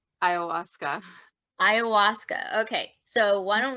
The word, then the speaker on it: Ayahuasca: Let's go there, and then we'll go into it's Ilowiska, right? Is that how you say it? Ayahuasca. Say it again. Ayahuasca.